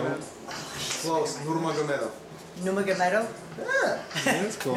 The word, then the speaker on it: Nurmagomedov: Nurmagomedov. Nurmagomedov? Yeah. That's cool. Nurmagomedov.